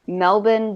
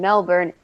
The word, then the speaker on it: Melbourne: it feels weird because when you say Melbourne the way that you're supposed to and I've explained this to them that's just saying Melbourne in an Australian accent Melbourne yeah so when